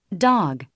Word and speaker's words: dog: 주는 것을 토리로 느껴 보시기 바랍니다 다시 들어보실까요 dog dog 자 다음 단어 들어보겠습니다 daughter 예이 단어도 도터 도터 또는 도러 도러 이렇게 발음하지 않죠 대신 이렇게 발음하고 있습니다 다시 들어보시죠